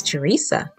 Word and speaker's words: Terysa: Most people think my name is Terysa, but it's actually pronounced tear, like a teardrop, and then sa.